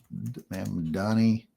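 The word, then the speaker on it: Mamdani: Is that Marn Donnie or Ma'am Donnie? Ma'am Donnie.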